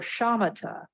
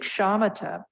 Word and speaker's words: shamatha: Okay, calm abiding, or shamatha, that's spelled S as in Sam, H-A, M as in Mary, A, T as in Tom, A.